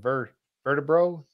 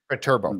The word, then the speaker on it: Viterbo: And this is in the church, the Santa Maria Nuova church in how do you pronounce that? Vertebro, Italy? Viterbo, I think. Viterbo, thank you.